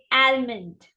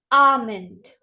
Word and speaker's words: almond: right now how do we pronounce it as mispronounce it as almond it's not almond it's arment what is that arment repeat after me arment